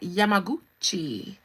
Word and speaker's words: Yamaguchi: Yamaguchi, you in here? You came in here laughing. I love her last name. Y'all, shout out to Nicole Yamaguchi. You got to say it like that, Yamaguchi.